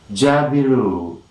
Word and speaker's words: jabiru: the day that is jabiru jabiru jabiru look at that spanish and most important syllable is ja and here you are the primary stress and you see jabru